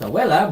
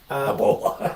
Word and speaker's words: abuela: You mispronounced abuela, but yeah. Ebola. I said Ebola.